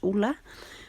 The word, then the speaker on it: Ulla: Her name is actually pronounced Ula, but we've always just called her Ula since we were young.